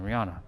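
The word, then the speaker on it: Rihana: Yeah, that's how you say your name. Rihanna. Just it's a shorter version of like the Rihanna that I know how. It's spelled like R I H A N A.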